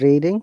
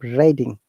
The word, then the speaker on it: Reading: And because it sounds like read, in the UK there is an university. It's called University of Reading. That's the reason it's not University of Reading. It's University of Reading.